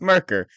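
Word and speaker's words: Myrkr: quick with you so the way this thing is spelled right is not something my brain can handle it's m yr KR but as soon as I saw that I was like oh yeah because I've heard it before that's merker but uh I wouldn't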